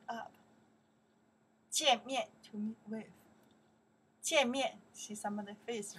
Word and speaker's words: 见: 见面. Okay. To meet up. 见面. To meet with. 见面. Okay, that's the character pronounced 见. 见. From the 再见的见.